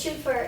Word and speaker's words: chauffeur: That's the way it's supposed to pronounce it. It's chauffeur. It's French.